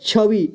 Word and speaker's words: छवि: यहाँ पर देखिए व को छोटी ई की तरह उच्चारण करेंगे, यानी कि व है तो इसे वी पढ़ेंगे, ठीक है, वी। तो इसे क्या पढ़ेंगे, छवि, दोनों मिला करके इसे छवि पढ़ेंगे, ठीक है।